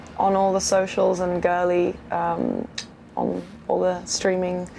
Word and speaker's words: Girli: more um and yeah you can find me girly music on all the socials and girly um on all the streaming sites and stuff